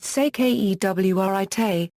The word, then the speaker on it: Securité: Security copyright equals, pronounced sekewrit, I have important meteorological, navigational or safety information to pass on.